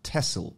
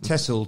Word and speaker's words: Texel: uprising took place on the dutch island of tessel which is spelt texel i've been mispronouncing it for years